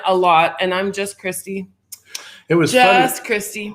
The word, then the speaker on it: Christie: And just so you know, my name is just Christie. No N. Just Christie. It's spelled all right except for that N. The N is silent in her name.